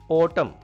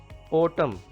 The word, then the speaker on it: autumn: Autumn. Autumn. N is silent here. You know it is a season. Autumn.